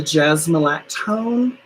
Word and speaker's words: jasmolactone: The jasmolactone, JASMOLACTONE. It is one word. It's like jasmine lactone, but jasmolactone.